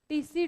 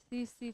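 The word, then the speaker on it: tsetse: का वेक्टर कौन है टीसी टीसी नहीं साइलेंट है अरे लिख लो सीसी फलाई ये ज्यादा मिर्ची खा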